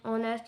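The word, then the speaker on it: honest: ऑनेस्ट में है H silent.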